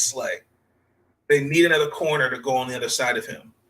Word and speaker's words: Slay: I think him on the other side of, I believe it's Darius Slay, if I'm saying his name right.